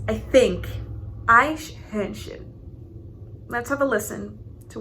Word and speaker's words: Eichhörnchen: somewhere in there, because I used to pronounce it as like Einhörnchen. I don't know. Maybe it's because my brain just interpreted it as like a Ein instead of Eichhörnchen.